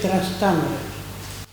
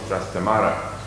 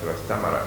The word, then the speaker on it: Trastámara: En inglés decimos Trastamara, y puede ser por culpa del inglés que se diga así y no Trastámara. Yo pienso que será probablemente Trastámara. Y que Sí. la pronunciación en inglés será una deformación por ver cómo se escribe, y lo han dicho así, pero no saber la pronunciación real.